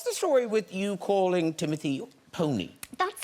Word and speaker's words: Timothée: It's pronounced Timothée.